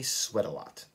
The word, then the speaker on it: sweat a lot: Sounds like sweat a lot. Sweater, sweater. I sweat a lot.